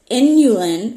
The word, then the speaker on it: inulin: Okay, it's a so it's inulin. It's almost like spelled like insulin, but there's no s in it.